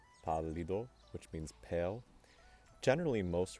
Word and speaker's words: pallido: However, in Spanish, if I have a word that's stressed on the third to last syllable, and it ends in